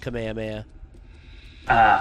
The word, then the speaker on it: Kamehameha: well yeah that's where it came from it's pronounced kamehame ah yeah okay well never mind then yeah kameha